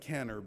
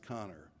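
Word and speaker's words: Kanner: Hopkins Hospital namely O'Connor it looks like caner but it's pronounced connor and he wrote a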